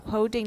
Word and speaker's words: holding: by breathing inward while holding the target position for this vowel. Okay, holding. Watch the L. Holding. Though lots of English speakers no longer pronounce that L, especially in Britain.